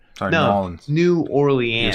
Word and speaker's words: New Orleans: Nolans. Sorry, no, Nolans. New Orleans.